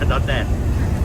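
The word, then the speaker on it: ดอนแดด: วาน น ไ นอน ดอน แดด ดอน เด ดอน เดด จะ อ่าน ว่า ดอน แดด เมื่อ วาน นี้ จะ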